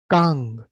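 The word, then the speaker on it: 강: याद रखिएगा, सर्कल में कंफ्यूज मत होइएगा कि ये नीचे लिखा हुआ है तो ये भी साइलेंट होगा, नहीं। साइलेंट वाले खाली बाईं तरफ और ऊपर होते हैं, नीचे लिखा हुआ हमेशा अंग है।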